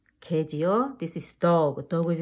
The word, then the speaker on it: 개: Crab is in Korean 개. 개. 애를 민하게 발음합니다. You should pronounce 애 is mean 애.